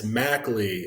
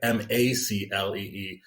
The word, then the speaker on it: Mclee: Like it's Maclee, like Maclee, but spelled Mclee because my parents, I